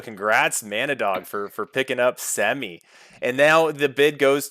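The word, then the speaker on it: Hsemi: Semi, H-S-E-M-I. Oh, Semi. Gotcha. Is it? All right. There's really no H pronounced in his name.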